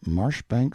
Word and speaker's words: Marjoribanks: of Cholmondeley Castle, Warwickshire, pronounced Kirkcudbright Llanover Marshbanks Sellers Viscount Berkeley of Cholmondeley Castle, Warwickshire.